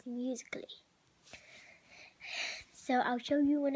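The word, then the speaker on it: musical.ly: the app called musical.y well that's how you spell it how you pronounce it is musically so i'll show you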